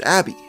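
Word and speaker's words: ABBBBBBK(: nicknamed it abbb bbbk which fans later decided to pronounce as Abby with Abby they defeated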